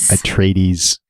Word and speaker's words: Atreides: Atreides. Yes, don't ask me to pronounce names without hearing them first.